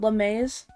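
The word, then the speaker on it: Lamaze: The person who made it is called LeMaze. And I don't like that it's pronounced like that, but that is how it's pronounced.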